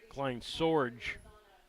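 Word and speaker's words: Kleinsorge: I think Klein swge let me correct the pronunciation Klein Sorge we will see him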